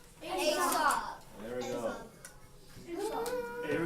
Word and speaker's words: Aesop: So you would think Aesop, but they pronounced it, or we think how his name was pronounced was Aesop, okay?